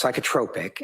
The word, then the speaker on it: psychotropic: It's pronounced psychotropic and okay.